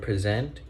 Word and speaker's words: present: present and as you can notice when we pronounce word present we put like a stress or put like